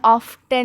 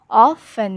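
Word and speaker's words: often: और यह ऑफन नहीं प्रोनाउंस करते। इसका टी जो होता है वो साइलेंट होता है। तो इसलिए हम इसको ऑफन यूज़ प्रोनाउंस करते हैं।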